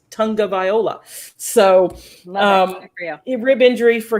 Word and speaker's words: Tagovailoa: You're so good at that last name now, because they spell it out, because he even said it's not Tagovailoa, it's Tagovailoa.